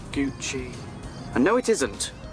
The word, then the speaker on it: Gucci: My watch is gucky. It's pronounced Gucci.